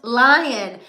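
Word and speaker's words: Lyon: Empire that's where got my nickname from oh pronounced lion I watched Empire when it first started but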